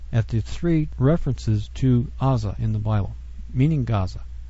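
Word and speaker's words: עזה: the same place because in the Hebrew it's pronounced Aza and most people think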